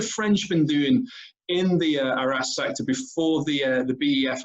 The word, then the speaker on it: Arras: look at the Battle of Arras this evening or Aris or depends how you pronounce this one and an interesting